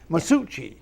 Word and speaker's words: Masucci: camera too it's CCI masuchi miuchi the second C is like an H correct that's how it's